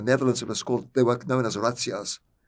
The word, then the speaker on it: razzias: In the Netherlands, they were known as razzias. How do you spell that? R-A-Z-Z-I-A-S. It's pronounced like the Italian way, razzias.